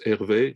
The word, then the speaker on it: Hervé: Now, just for you, in French, RV coefficient is pronounced Hervé, so that means you know why I love that coefficient.